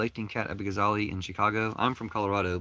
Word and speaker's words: Kat Abughazaleh: Can you go vote for Cat Abugazale?" Her name is Cat Abugazale. I'll tell you how to spell it.